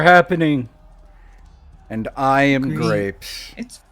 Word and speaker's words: Graeps: Grapes.